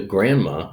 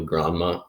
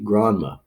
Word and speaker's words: Granma: Now, the Grandma is the name of the boat. It's probably Granma, not like I love my grandma.